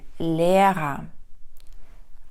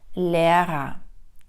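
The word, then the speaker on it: Lehrer: вимовляємо бруда А тепер візьмемо слово вчитель Лера перша р стоїть або знаходиться перед голосною вона чітко вимовляється друга знаходиться після голосної не вимовляється як е а вокалізується Лера Лера Також я вас просила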